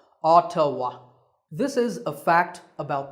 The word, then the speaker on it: Ottawa: the capital of Canada is Ottawa yes it's pronounced Ottawa Ottawa this is a fact about the world here